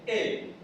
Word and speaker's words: El: Dios se dice Él.